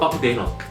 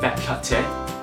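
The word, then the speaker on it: bak kut teh: it hey you want Buck there and this this is how an Australian would say it hey guys do you want a back cut T so the next thing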